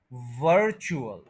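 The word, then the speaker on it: virtual: तो यह वर्ड है वर्चुअल यानी फर्स्ट सिलेबल स्ट्रेस है उसको जरा एनर्जी देनी है वर्चुअल वर्चुअल वर्चुअल three syllables है फर्स्ट सिलेबल जो है उसके ऊपर स्ट्रेस है तो इसको वर्चुअल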